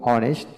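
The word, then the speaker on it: honest: অর্থাৎ যে সকল ওয়ার্ডের ক্ষেত্রে এইচ উচ্চারণ হয় না, এইচের পরবর্তী অক্ষরে উচ্চারণ হয়ে থাকে, সেখানে আমরা এন বসাবো।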